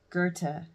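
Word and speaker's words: Goethe: I think his name I think his name's pronounced Gerta. Darwin, Marx, Engles, Toltoy, Dostoy, Dostoyavski, William James and Freud.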